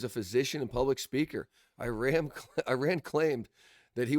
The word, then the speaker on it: Iran: Whatever reason, I made a habit of saying Iran, it's Iran. I got to say it right. I don't want to say it wrong, especially if I'm going to be speaking like this. Um, so I'm going to try to do better. I just caught myself. It's Iran, not Iran.